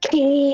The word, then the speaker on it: quay: It's supposed to be pronounced key. It always pissed me off that he open. It's key. It could be pronounced both ways and he decided it was qu Mercer.